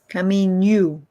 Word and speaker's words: caminho: Remember the double O in English. What is the sound? Caminho. Exactly. That's exactly the pronunciation.